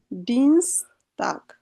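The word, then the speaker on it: Dienstag: এই যে আই আর ই থাকলে আমরা ডান সাইডে যেটা থাকে ওইটার উচ্চারণটা নিতে হয়, ওটার ইংরেজি উচ্চারণটা নিলেই হয়ে যাবে ডিনস্টাগ।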